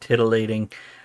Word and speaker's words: titillating: Tonight's topic is incredibly exciting and titillating. Stress on the first syllable, and I am drinking